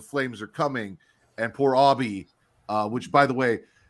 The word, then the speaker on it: Obi: it Obby or was it Obie it was Obby because I thought it was Obie like Obie tce it was spelled Obie it